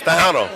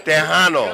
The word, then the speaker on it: Tejano: So, Did I pronounce that correctly? yes, Tejano. That's close enough. Okay, say it again. Tejano. Tejano, yeah.